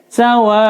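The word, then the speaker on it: سواء: Sawaun wa, ini mad wajib muttasil, wajib dibaca 5 harokat panjangnya.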